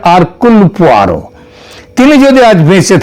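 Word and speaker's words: Hercule: Agatha Christie এবং তার গোয়েন্দা আরকুল পোয়ারো, এটা যদিও ওই উচ্চারণে এটা হয় হারকিউল, কিন্তু অ্যাকচুয়ালি উচ্চারণটা হচ্ছে আরকুল পোয়ারো।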